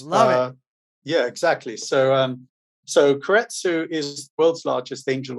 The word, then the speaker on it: keiretsu: And what was really cool when we were doing the research was you're also managing partner at Keiretsu. Am I pronouncing that right?